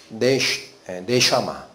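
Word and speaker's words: נשמה: 영이란 뜻입니다 이게 뭐예요 네샤마라고 읽힙니다 히브리어로 이게 숨 영인데 그래서이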